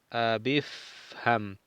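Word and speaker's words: اِفْهَمْ: Entonces aquí estamos leyendo corrido y no se pronuncia el hamza del imperativo al final, ya que está en el medio y decimos abif, abifham. Qala li abifham.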